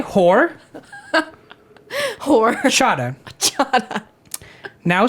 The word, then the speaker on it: horchata: Or chata. Perfect. Kind of rush through it. Horchata. Because when you say horchata, I promise you that's 10 times more white. Because you're not supposed to pronounce the H.